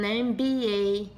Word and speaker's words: MBA: Outro exemplo aqui, an MBA. M, apesar de ser uma consoante, ele tem nessa palavra aqui som de vogal, am, ok? Am tem o som de vogal, começa com som de vogal, por isso que eu falo an MBA, não a MBA, ok?